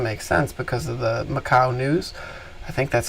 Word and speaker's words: Macau: So unless something funky is going on in the dark pool, which doesn't make sense because of the Macau news, I think that's how you say it, Macau, M-A-C-A-U-O.